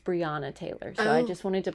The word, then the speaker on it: Breonna Taylor: I said Breonna Taylor. I believe it is pronounced Breonna Taylor.